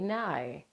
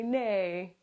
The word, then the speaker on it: Nai: tell you it's n like Bill Nye, everybody knows who Bill Nye is.